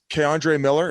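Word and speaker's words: K'Andre Miller: They're saying this Keandre Miller.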